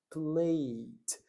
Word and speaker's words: played: Eu não vou falar played, eu falo played. Played.